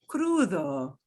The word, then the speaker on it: crudo: okay so crudo and notice that d is between two vowels so the d will get a really soft soft like a fifth of the sound crudo now we're going to